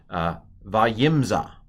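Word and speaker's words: וימצא: It's a silent shva. This syllable is closed. So it's vayim, and then the next vowel is what? Before the aleph, it's a kamatz aleph. So vayimza, and he found the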